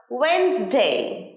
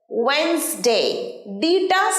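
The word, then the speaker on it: Wednesday: অনেকেই ভুল উচ্চারণ করে ডে বলি কিন্তু না ওয়েনসডে ওয়েনসডে সাইলেন্টস সামনের বুধবার আমার পরীক্ষা আছে আই হ্যাভ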